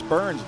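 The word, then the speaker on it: Byrne: Yeah, it's singular Burns and it's spelled like David Burn with the talking head. B Y R N E.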